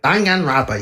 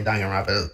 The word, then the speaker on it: Danganronpa: Like in my recent videos, like in my Jet Set Radio and my Danganronpa. No, let me say that word. Danganronpa. Yeah, that's how you say Danganronpa.